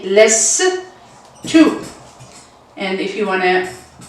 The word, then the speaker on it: لست: And if you want to see how you are going to pronounce it, less to. Less and to. Less to, or you can do it with the U or with the O.